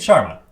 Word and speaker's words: Charma: How do we spell Char? No, wait. Spelling Char is not a problem, huh? Just pronouncing it. Let's make it Sharma. That's CHARMA.